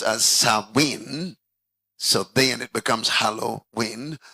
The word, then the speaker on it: Samhain: Pronounced as Samhain.